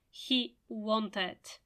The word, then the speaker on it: wanted: can't pronounce it well in this case you pronounce it it he wanted he wanted I liked he wanted ID it is pronounced only when you can't articulate it in a different way it's simply impossible for